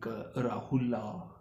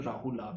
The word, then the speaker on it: Rahula: And Pem KEKULA, Actually, A is silent, like Rahula. In Sri Lanka, everyone saying Rahula, but actually it's a Rahul, right?